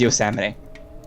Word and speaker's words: Yosemite: Okay, it is Yosemite. I was pronouncing it correctly, it's Yosemite.